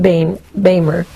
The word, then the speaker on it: Boehmer: It's pronounced Bamer.